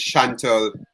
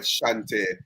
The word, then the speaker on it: Chauntai: And her name is Chantal Samuels. Chauntai Samuels. Shantae. Yeah, Chauntai, yeah. How do I get? Is it spelled with T-A-L at the end? No, it actually spelled with T-A-I. Oh wow! See what we have here. Chantal or Shante. All right, Shante. Let me go ahead and correct that.